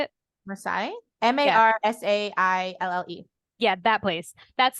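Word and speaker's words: Marseille: in France that we don't know how to pronounce how did you say it Masai m-a-r-s-a-i-l-l-e yeah that place that's the only one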